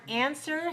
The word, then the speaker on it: answer: to answer all right do you notice that the word answer has a silent letter the W you write the W but you don't pronounce it all